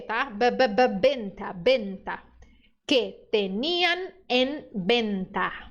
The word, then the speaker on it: venta: burro você un Perfeito letra V no espanhol som de B tá Benta Benta que ten em